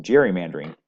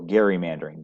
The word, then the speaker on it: gerrymandering: of times more recently we have seen some gerrymandering take place or gerrymandering depending on how you say it so gerrymandering